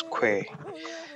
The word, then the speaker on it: Khoi: Africa I'm gonna die the word koi is pronounced as que and therefore the koi's